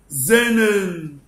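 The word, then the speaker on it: xenon: وهنا الكلمة دي انطقها ازاي عشان الاكس في الاول؟ زينن زينن.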